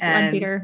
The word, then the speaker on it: Leadbeater: I think it's Leadbeater, yeah. Yeah, that's how she pronounced it yesterday.